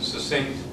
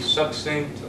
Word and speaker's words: succinct: which is the word succinct pronunciation of which could be succinct or succinct I tend to call it succinct meaning said or written